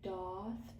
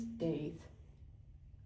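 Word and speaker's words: daith: I got a Doth piercing. Apparently, it's pronounced that way. I thought it was Dave.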